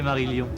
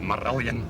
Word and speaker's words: Marillion: J'aime bien la manière française de prononcer Marillion. C'est joli. In Scotland, it's like Marillion.